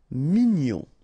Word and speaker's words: mignon: remember together and then che fé cruel ok u cru cruel actuel actel actuel mignon ok here in that case gn O N gon mignon sour final pronounced o